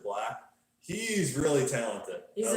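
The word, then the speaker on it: 6lack: 6 Lack. 6 Lack. I think you just pronounce it Black.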